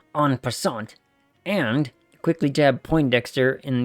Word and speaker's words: en passant: I'm funny enough, I mispronounced what they wrote down there. It's pronounced en passant, and quickly jab Poindexter in the eyes with 2 fingers.